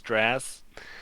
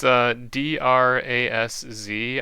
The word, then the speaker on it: Drazz: You said it was Draz. It's Drazz. I wanted to pronounce like draws, like Draws.